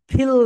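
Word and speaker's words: feel: যখন এফ উচ্চারণ করবে তখন তোমাদের উপরের দাঁত নিচের ঠোঁটের সঙ্গে টাচ করবে, সবাই বলো ফিল লাইক, ফিল লাইক।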